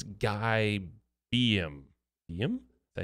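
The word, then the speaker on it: Guy Beahm: It's Guy Beam.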